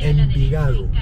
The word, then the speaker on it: Envigado: Envigado. Envigado. I don't know if I can say that in my Scottish English. How do you say? Envigado.